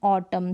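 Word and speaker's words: autumn: फिर देखिए एन है कलम कलम ऑटम तो यहां पर एम के बाद ये रूल है एम के बाद अगर एन आता है तो साइलेंट राहत है क्या एन फिर देखिए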